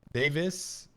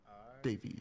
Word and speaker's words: Davies: Davis? Davies, yes. Davey. I only have drinks. Yes, it's spelled the same as Davis, to be fair. D-A-V-I-E-S. All right, It is the British pronunciation.